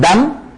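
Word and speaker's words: דם: encuentra en la sangre del hebreo dan a ver pronuncian dan dan es la palabra hebrea para sangre entonces hemos explicado recientemente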